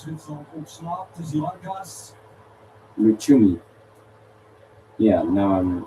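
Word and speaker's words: Lucumí: Lucimi is injured. So if they go through, we have to see if he can play. Lusumi, sorry. Snel terug. Als Zwitserland opslaat, is die Lankas. Luchumi.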